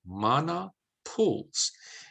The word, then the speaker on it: Mana Pools: beautiful park it's called mana pools that's how pronounced it mana pools and it is a world heritage site you're